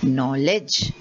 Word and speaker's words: knowledge: no and there is knowledge so all these k's are silent okay now you have